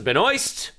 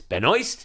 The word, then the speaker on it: Benoist: course we got the Supergirl trailer starring Melissa Ben oy that's how you say it it's Benoist it's not benois it's not Benoist now I